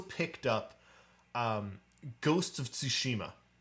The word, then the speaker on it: Tsushima: going to try you've got to sort of pronounce the t and the s at the same time so tsushima yeah anyway yeah um that is the best